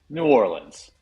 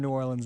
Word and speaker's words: New Orleans: New Orleans. We are not a New Orleans show. Okay. We're a New Orleans show. Okay. Yeah, I'm Yes. New Orleans. Okay. New Orleans. I am New Orleans as well.